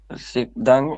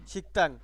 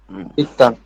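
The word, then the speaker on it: 식당: না সিন না এটা কি ক ওটা ও শিকদাং ই আর এই ক ধ্বনির পরে দ্বিগুত থাকলে হয় সাংঘুত সুতরাং ত হবে উচ্চারণের দ্বিগুটা শিকতাং শিকতাং শিকতাং ইয়াদি অর্থ কি শিকতাং মানে কি শিকতাং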